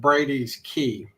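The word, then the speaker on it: Brady's Cay: it's SP spelled c a y but he pronounces it Brady's key even though it's SP Cy yeah and I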